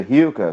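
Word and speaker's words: Rilke: A pronúncia correta é Hilke, só que eu não vou ficar com essas frescuras aqui, né?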